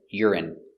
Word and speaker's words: urine: they're the same pronation urine R it y URI urine stress on the first syllable urine urine urine they